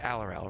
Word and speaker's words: Aurorum: It's pronounced Aurorum, right?